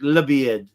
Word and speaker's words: La Bied: It says El Bied, but you pronounce it in Arabic La Bied.